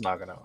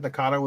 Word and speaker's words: Nagano: Because Nagano is a real city, and I just looked up the pronunciation, and apparently that is right. So it is Nagano. Okay. I don't know. Well, I've been saying it wrong. I mean, when That's he first unfortunate. came onto the screen, I said Nakano as well, and then I